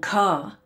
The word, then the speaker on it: Ka: In the language of the hieroglyphs, Mer meant light, and Ka, pronounced car, meant vehicle, funnily enough.